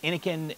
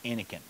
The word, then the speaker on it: Innokin: So anyway, I say and and Joey says Inken and a lot of people say Inkin. So I imagine that the name of the way the the the way you pronounce the company is Inken.